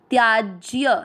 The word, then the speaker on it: त्याज्य: हिंदी अर्थ सहित समझेंगे पहला चरण आधा त या के साथ त्या आधा ज य पूरी के साथ ज त्याज्य ध्यान देना शब्द को